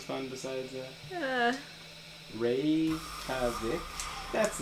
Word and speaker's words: Reykjavik: Reykjavik. Yeah, that's how it's pronounced.